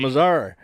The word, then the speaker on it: Missouri: western theme it's a western theme Missouri in Missouri and so we get down there yeah pronounce it right with some you know put some respect on it with Mazar so they go down and I'm mizard Missouri and miserable just all right we go